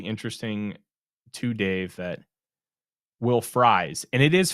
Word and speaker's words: Fries: too, Dave, that Will Fries, and it is Fries, friend of the show, Matt Freeze, is also spelled like fries, but it's not pronounced that way. And Will, it's pronounced like French fries.